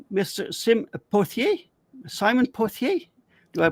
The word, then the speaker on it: Pothier: Simon Pothier. Do I pronounce it correctly?